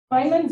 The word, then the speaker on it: Feynman: But I think it's sort of going off of Feynman's or Steiner? Feynman. Feynman? Excuse me. And you know I mispronounce things.